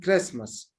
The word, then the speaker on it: Christmas: Like in Christmas, I dropped the ta sound in this word, Christmas.